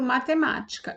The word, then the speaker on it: matemática: Aí a gente vai contar última sílaba, penúltima sílaba, antepenúltima sílaba, que é o ma. E o acento está aqui, a sílaba mais forte. Então, ela é uma proparoxítona, ok?